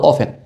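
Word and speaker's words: often: হাউ অফেন উচ্চারণটা কি হবে? হাউ অফেন।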